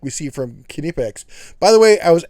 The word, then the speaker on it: Knipex: You pronounce the K.